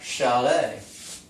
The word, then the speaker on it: chalet: And theirs is more of an SH. Such as champagne. Comes from a region, a French region, and it's pronounced champagne. What about chalet?